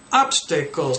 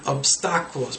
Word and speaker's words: obstacles: Obstacles, not obstacles, because in Spanish they say obstáculos.